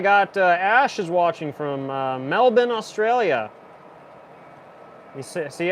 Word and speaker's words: Melbourne: Ash is watching from Melbourne Australia you see I said it right I said Melbourne not Melbourne like Americans I spent a